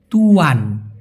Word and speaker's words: tuan: আর Malaysia একটু খেয়াল করে দেখুন, TUAN উচ্চারণ হচ্ছে তুয়ান, এই যে তুয়ান।